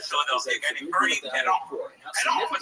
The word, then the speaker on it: Parent: his career in Philadelphia, a guy named Bernie Pedon. Pedon would spell parents. Pedon would spell parents. When French do that, they make the NT silent, all the words, the word sound full. Pedon.